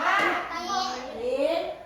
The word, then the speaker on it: หญิง: หญิง หอ ย อิ งอ หญิง อ่าน ว่า หญิง อัน ใหม่ อัน ใหม่ หอ อัน ใหม่ หอ